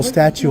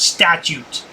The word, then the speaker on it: statute: no no there's no statue on there that's policy what the hell is wrong with these frauditors can't even pronounce the word statute there's an extra te in there idiot yeah probably been